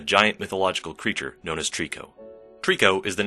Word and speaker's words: Trico: a more related note, the Japanese pronunciation, Toriko, roughly translates to prisoner or captivity in English, and is also a